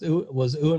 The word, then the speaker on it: Ewan: But I'm surprised you haven't watched that because that one season was Ewan McGregor playing twins.